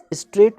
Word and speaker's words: straight: फिर इसी प्रकार से स्ट्रेट, STRAIGHT, इसमें GH साइलेंट है, इसे नहीं बोला जाता, इसीलिए इसे हम पढ़ते हैं स्ट्रेट मीन्स सीधा।